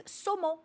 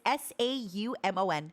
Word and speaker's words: saumon: In French, by the way, it's saumon. There's not even an L. It's Saumon.